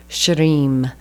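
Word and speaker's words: shrim: then the next one same Mantra but substituting sh so s h r i m I have a hard time rolling the r right after the sh but shim and that is like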